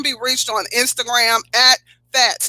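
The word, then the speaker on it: Phatz: They can be reached on Instagram at Fats. Now, Fats is spelled P-H-A-Z, not F-A-T, but P-H-A-T-Z clothing at Instagram.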